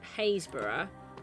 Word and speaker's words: Happisburgh: I did it with red and white concrete, because here Haysborough has Haysborough is a really funny word, so it's pronounced Haysborough, but it's spelt like Happisburgh.